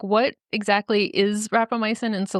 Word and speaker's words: rapamycin: understanding is that that's with a drug called rapamycin am I pronouncing that right yes are and that there's